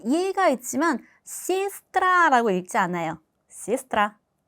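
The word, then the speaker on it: сестра: 알파벳 예와 야는 강세가 없을 경우 이로 발음이 됩니다. 예를 들어서 시스트라. 자 여기 알파벳 e가 있지만 시스트라라고 읽지 않아요. 시스트라. 시스트라.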